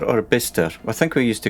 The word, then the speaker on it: Bicester: next one okay right right away next up bicester so is it bicester or bister i think we used to call it bister